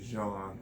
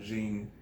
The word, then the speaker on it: Jean: It's spelled Jean, but it's really Jean and not Jean. I guess some type of French.